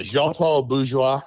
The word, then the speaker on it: Jean-Paul Bourgeois: Well, look, I mean, yeah, Jean-Paul Bourgeois.